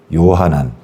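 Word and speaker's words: יוחנן: 히브리 발음은 요하난, 여호하난이고, 독일어로는 요한이에요.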